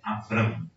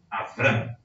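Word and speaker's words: אברם: tem essa confusão quando Escreveram em português escreveram Abrão mas a pronúncia é avram avram visto que o nome em hebraico contém um Vete não um Bet como falei ele era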